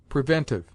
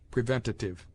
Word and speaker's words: preventive: Preventive. A useless and unwarranted syllable is sometimes added to this word preventative. Previous.